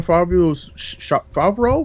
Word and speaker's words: Favreau: the John Favreau's Favreau.